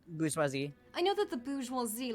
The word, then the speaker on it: bourgeoisie: Because I pronounced it wrong. Bourgeoisie.